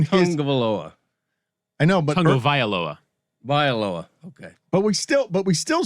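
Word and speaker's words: Tagovailoa: I want to say Tungavaloa. Am I saying it correctly? Because I'm scared of it. I think you got it. Needs a little I. Tungavailoa.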